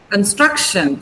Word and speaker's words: construction: Construction. So where is the stress in construction? Now when you pronounce it, Because I told you the stress. One second. The stress is on the syllable before TION.